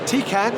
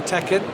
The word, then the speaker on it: Tecan: joined by Mike Bimson from Tecan, or Tecan, depends how you want to pronounce it, and we'll learn more about Tecan and what they're showcasing this week at DD24.